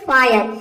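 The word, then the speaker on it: fire: का हो जाएगा र इसमें ई साइलेंट है यानी कि इ का उच्चारण हम नहीं करेंगे ये हो जाएगा फायर फायर मींस होता है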